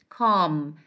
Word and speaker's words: calm: It is ka, the first one is ka, ka, a, ka, and M, calm. The L is not existed as you see, because it is silent.